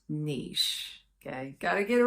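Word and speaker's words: Niš: to their third largest city which is called Niche yes now it's spelled n in English it's not pronounced n it's pronounced Niche okay got to get it right serbs get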